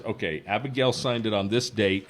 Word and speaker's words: Abigayle: that says okay Abigail signed it on this date and this is